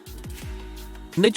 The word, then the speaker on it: niche: Niche is pronounced niche, not niche.